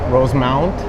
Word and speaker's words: Rosemount: start with this one is it rosemont or rose mount rose mount i always say rosemont but i spell it like rose mountain i i legit do